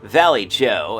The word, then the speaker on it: Vallejo: You see, Vallejo, or Valley Joe, as it is pronounced by himself and the city by that name, was an Anglophile.